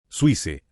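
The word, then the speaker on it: Suisse: Suice es la pronunciación francesa de Suiza.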